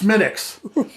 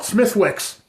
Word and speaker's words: Smithwick's: this is a red ale yes and it's pronounced smitics unlike somebody that i used to know who thought he's really smart and irish he would call it smithwicks smithwicks and i would say frankel's it's not